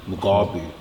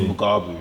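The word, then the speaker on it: Mugabi: I can't get this wrong because I watch this fight every day, but I think it's my pronunciation how I'm saying his name. Mugabu. Yeah, okay. John Mugabu.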